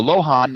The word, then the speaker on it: Luohan: And the lohan is spelled many different ways. One of the ways it's spelled is Luohan, but pronounced lohan.